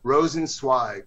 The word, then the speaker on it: Rosensweig: up how do you say your last name rosensweig but most people just call me r